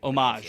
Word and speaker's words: Homage: I actually don't know how to say their company name. Which way they homage, right? It is homage. Homage. Homage. Well, they say they say pay homage.